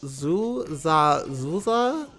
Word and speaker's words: Xuxa: I believe it's pronounced Zuza. Hopefully that's how you pronounce it. Because there are X's in these words. I'm not sure how X's are pronounced in Portuguese, or I think they speak Portuguese in Brazil.